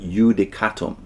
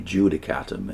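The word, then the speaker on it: Iudicatum: face and issued a I don't know if I'm producing this correctly but yudicatum I guess it would be judicatum in modern modern pronunciation in which while careful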